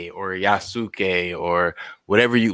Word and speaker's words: Yasuke: your thoughts well first i think yasuke sounds so much better than yusuki uh um so i'm i'm glad that they pronounce it that way and now that i know that the u is not overly pronounced in japanese so that that helped